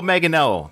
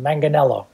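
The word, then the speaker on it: Manganiello: ninth and I had to get this guy's pronunciation of his last name Joe meganello did I get that right no no but you know what that's what most people pronounce it manganello okay yeah that's my Canadian okay I I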